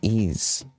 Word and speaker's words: Ys: I'm the messenger so is is it even actually pronounce these yes it is how do you know literally the developers call it that and people who review that game call it that IGN calls it that devel everyone calls it ease yeah Neon Falcom is